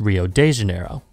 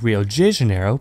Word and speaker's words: Rio de Janeiro: Janeiro, and it's pronounced Rio de Janeiro. But it turns out it's actually pronounced more like Rio de Janeiro because of the dialect of Portuguese they speak, and it is not